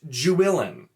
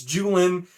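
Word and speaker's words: Juilin: sandar julian you know j-u-i-l-i-n is apparently pronounced jewellen jew illin no it's not it's just it isn't okay it's not it's not pronounced jewellen it's julian i that's another one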